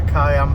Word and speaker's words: cayenne: my Porsche Kaya you like hot pepper yeah cayenne pepper hot is that cayenne pepper cayenne pepper yeah well that's spelled differently the Porsche one it's c-a-y a